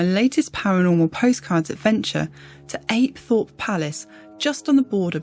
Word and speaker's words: Apethorpe: I've certainly never heard any locals call it Apthorpe, and the tour guides didn't use that pronunciation either, so I shall continue using the local pronunciation of Apethorpe.